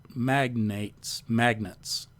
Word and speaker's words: magnates: industrialists and business magnates, I think it's pronounced magnates. It's not a magnet, an electric magnet, or a ferromagnet. It's an industrial or business magnet.